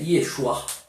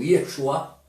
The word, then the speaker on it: Yeshua: que o nome do mestre no aramaico é Yeshua. Se for pegar carregado mesmo a forma de pronúncia mesmo, Yeshua, começa o quê?